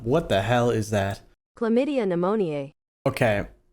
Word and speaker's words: Chlamydia pneumoniae: Chlamydia pneumoniae. Okay, that is pronounced chlamydia pneumoniae. Chlamydia pneumoniae. That is a mouthful.